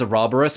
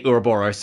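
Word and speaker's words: ouroboros: think they say a robber us the correct pronunciation is a roborous but a lot of things say uroboros and it annoys the out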